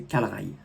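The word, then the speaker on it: Kalray: Et ne me dites pas que c'est Calray, s'il vous plaît, c'est Calrail.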